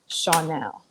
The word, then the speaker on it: Shawnelle: utilize it okay so chanel is really similar to my real name my real name is it's just spelled a little differently pronounced so differently my real name is shawnelle so okay i came